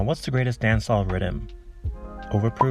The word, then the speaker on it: Riddim: it's called The Rhythm and that's Rhythm pronounced in Jamaican pwa traditionally you'll have multiple